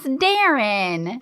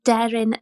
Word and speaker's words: Deryn: This week, we have another adorable JRT from the British Isles, Wales specifically, and her name is Darren.